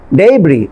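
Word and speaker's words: debris: করেন এখানে dislike, dislodge, ডেব্রি, আবার এখানে খেয়াল করেন লাস্ট যে আপনার এসটা আছে এটা কিন্তু সাইলেন্ট থাকছে, আমি কিন্তু ডেব্রিস বলছি না, কি বলছি ডেব্রি বা ডেব্রি।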